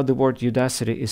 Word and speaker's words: Udacity: two tables 13 landmarks notice how screen view to pronounce the word Udacity as Judah city this is a pretty